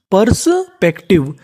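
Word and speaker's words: perspective: पर्सपेक्टिव, यानी पर्सपेक्टिव।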